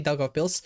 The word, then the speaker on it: Daugavpils: Daugavpils.